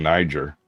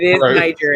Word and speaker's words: Niger: a problem with way you're staying Niger you're dropping a hard G and keeping the hard r I'm not sure that's how that's supposed to work Niger isn't it and I said Niger it's like Street Fighter say tiger you say N Street